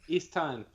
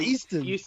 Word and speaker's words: Easttown: Easttown. And John, how do you say it? Easttown. No, that's how I said it. No, you said Easton. Easton.